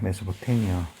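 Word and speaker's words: Mesopotamia: 그래서 메소포타미아 전역, 메소포타미아의 영어식 발음은 메소포테미아입니다. 메소포테미아, throughout 메소포테미아, 메소포타미아 전역, 콤마 엔드 역할 하는데, 그리고 유럽까지가 되죠.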